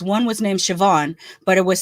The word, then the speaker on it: Siobhan: One was named Siobhan, but it was spelled like Siob.